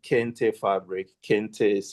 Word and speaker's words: kente: Those are called kente fabric. Kente is spelled K E N T E.